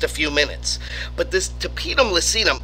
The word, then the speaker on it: tapetum lucidum: It's due to something called a tapetum lucidum. You can also call it tapetum lucidum. I've heard it pronounced both ways, but I like tapetum lucidum because it rhymes.